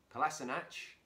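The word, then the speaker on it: Kolašinac: everyone's fit you've got class a notch that's the correct pronunciation by the way classy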